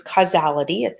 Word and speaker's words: causality: development causality is and we saw a pronounced casualty like casualty insurance this is causality it's us pronounced a little bit differently a causality is is